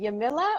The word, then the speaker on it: Yamila: in the meantime welcome welcome um and also pronouncing your name is it yamila or yamila or you got it the first time you can say that yamila franco okay perfect of course yes no not